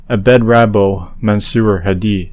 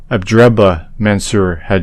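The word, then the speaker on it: Abdrabbuh Mansur Hadi: to hear the pronunciation Abed rabo mansur Hadi is not his name abraba mansur had is anyway this Yemen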